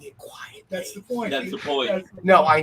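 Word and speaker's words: Quitely: Unfortunately, it's spelled quickly, but I've been informed that it's quiet. Frank Quietly, you learn to cover.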